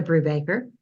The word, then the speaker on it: Brewbaker: name hi I'm Brewbaker that's Brew like a baker however it is you